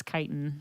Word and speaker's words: chitin: of it in Skyrim it's spelled chitin but it's chitin yeah it's like feces